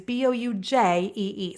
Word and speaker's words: Bougie: By the way, Bougie is Boujee. Sometimes people can't find things because it's spelled like that.